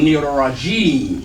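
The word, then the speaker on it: الرجيم: But at the end of the word, we don't pronounce the last vowel because this is actually be two more syllables, maybe G and then me. But since it's the end of the expression, we drop this vowel in pronunciation. We still have to write, but we drop it in pronunciation and be shaitan nirajim. All right, so let me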